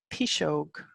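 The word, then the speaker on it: piseog: terms in the folklore archives and records so P shoke is how you pronounce P is Gog P shoke re is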